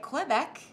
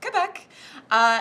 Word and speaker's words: Quebec: department today called Quebec part of you wants to say cliff Eck you know cuz you think that's very French but we actually went on Google for the pronunciation and it's Quebec so yeah feeling very